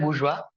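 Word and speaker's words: bourgeois: they are called as bua okay bua and proletariat okay owners and non workers okay KL marks talks about okay French word bua okay you have to pronounce it bua okay and proba darate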